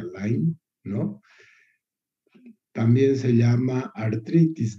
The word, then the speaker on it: Lyme: De Lyme, pero se pronuncia Lyme, ¿no?